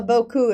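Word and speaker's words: beaucoup: that's right yeah well boku is b-e-a-u-c-o-u-p right you know you barely pronounce any of those letters anyway back to peter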